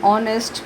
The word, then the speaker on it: honest: then and egg and honest because h is not pronounced to silence silent okay